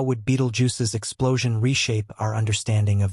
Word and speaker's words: Betelgeuse: Beetlejuice is often mispronounced as Beetle Jew this red giant star